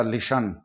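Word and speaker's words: listen: example के तौर पर एल आई एस टी ई एन यहां टीई एन आ रहा है टी एन और टीई एन में हम टी को साइलेंट करते हुए हम बाकी के अक्षरों की ध्वनि निकालेंगे तो यह हो गया लिसन इसको हम लिसन पढ़ेंगे इसी तरह ए टी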